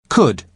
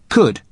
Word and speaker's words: could: listen to the pronunciation could could you spell it c u l d but the letter L is silent could now listen to the